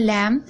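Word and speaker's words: lamb: आप देख रहे हैं लैम यहां पर भी एम के बाद बी है तो बी साइलेंट है थम यहां पर भी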